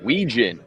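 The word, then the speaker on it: Wetjen: But allow me to play devil's advocate for a second at least on the Weean pick. You know, we can we now I'm now I'm pron pronouncing the T. Ween. No T.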